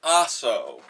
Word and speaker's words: Aso: power, Japanese Prime Minister Asshole buried the lower house of Parliament in lime... Oh. Yes, okay. I see. Right. Last warning. Okay. The Prime Minister's name is pronounced Aso, and he dissolved Parliament,